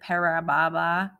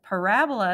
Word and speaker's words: parabola: Parababa. But parabola is the correct way to say that, is the u-shaped graph of a quadratic function.